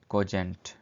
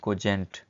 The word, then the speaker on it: cogent: Word है वो है कोजेंट. इसको ज़रा स्पेलिंग आपने इसकी प्रोनाउंसिएशन सही से देख लेनी है. कोजेंट है ये जे का साउंड दे रहा है यहाँ पे. कोजेंट.